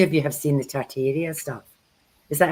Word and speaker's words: Tartaria: If any of you have seen the Tartaria stuff, is that how you say it, Kerrie?